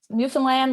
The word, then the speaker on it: Newfoundland: It's called Newfoundland, like, understand. That's how you pronounce it.